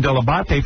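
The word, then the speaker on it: Dell'Abate: said hi I'm Gary delabanta I don't remember specifically day one but I know I got the pronunciation de la bate from you I said that is the proper way to pronounce it but no but I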